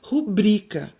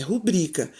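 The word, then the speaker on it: rubrica: justifica então nós vamos lá é a palavra pública o correto aí é botar a sílaba forte né você pronunciar cobaia mais forte que eu tô na cidade a sílaba ba a brica e não pública é rubrika centro da cidade fosse para ser uma rua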